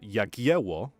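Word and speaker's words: Jagiełło: one of the uh polish kings as uh yakiwo which is how we now say it uh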